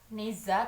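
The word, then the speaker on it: Nezha: Rin yang namanya necha Neza tulisannya Biasanya kalau Chinese itu bacanya Nea If I'm Not mistaken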